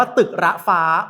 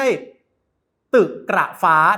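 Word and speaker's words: ตึกระฟ้า: เข้า สู่ ตัว เมือง คำ นี้ อ่าน ว่า ตึก ระฟ้า ไม่ ใช่ ตึก หรับ ฟ้า นะ ครับ อ่า ดี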